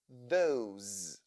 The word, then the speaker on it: those: The S letter in these words sounds like Z. These, those.